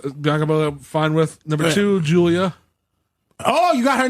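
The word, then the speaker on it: Giulia: pronounced gu oh okay so it's Julia Julia the G assignment right and number one the G isn't silent it's just like giraffe it's not silent number one Ria Ripley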